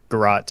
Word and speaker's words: garrote: Apparently, Garrote is the primary pronunciation. Garrote is also apparently acceptable.